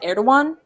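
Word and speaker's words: Erdoğan: Yeah, Erdogan. Mm-hmm. That's how it's pronounced.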